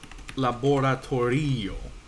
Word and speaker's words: laboratorio: Laboratorio, right? The second to last syllable is there.